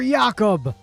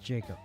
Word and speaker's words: Jacob: Vote for Yakob. What do you mean it's pronounced Jacob? Oh, I thought he was Russian.